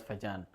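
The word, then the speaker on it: Fajans: is purely based on Fagen rule right Fagen some people pronounce it as Fagan okay you made a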